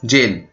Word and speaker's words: gaol: अब देखिए, ये वाला जेल और ये वाला जेल दोनों की स्पेलिंग सेम है और प्रोनाउंसिएशन भी सेम है।